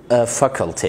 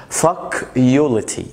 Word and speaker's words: faculty: احنا بنقول فاكولتي يعني كلية، زي مثلا كلية تجارة فاكولتي اوف كوميرس. في مشكلة بقى، ما تقولش فاكيوليتي، يعني واخد بالك فاك يو يعني مش هعلم ونشتم كمان يا جدعان.